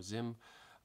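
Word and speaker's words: Xiem: tools or these ones x i e m pronounced siem or zim these are more like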